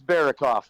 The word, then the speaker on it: Berokoff: I hope I pronounce it right. Berokoff. You know, it's okay. I've heard it worse before. It's Berokoff, but that's okay. Berokoff.